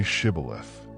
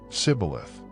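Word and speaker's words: shibboleth: The Ephraites couldn't pronounce the sh sound properly. They said cibilith instead of shibth.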